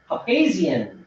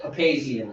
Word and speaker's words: Papazian: Yeah, all these years I've been saying it wrong, Papazian. I've heard it said so many ways that I never knew. But Trevor assured me that Papazian is Charlie Papazian as well.